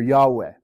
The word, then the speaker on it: Yahweh: the lord now actually we're not a hundred percent sure how this name is pronounced but it's probably pronounced something like yava or yahweh and this word is